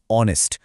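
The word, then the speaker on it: honest: সঠিক উত্তরটি হল বি এন কারণ শব্দটির লেটার এইচ দিয়ে শুরু হলেও এখানে এইচ টা একদম সাইলেন্ট বা উচ্চারণহীন উচ্চারণটি আসলে হচ্ছে অনেস্ট অর্থাৎ একটি ও বাওল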